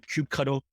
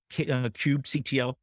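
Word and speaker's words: kubectl: be generic so there's this command called Cube cuddle Cube CTL different people pronouncing it differently Cube control Cube CTL but with that command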